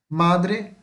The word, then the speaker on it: madre: Aqui só tem um erro que eu encontrei agora, isso aqui é uma paroxítona, tá? Porque a sílaba mais forte de madre é o ma e não o dre, tá? Aqui embaixo sim, aqui são oxítonas, mamá, papá. Mas aqui é paroxítona, então madre, o ma é mais forte.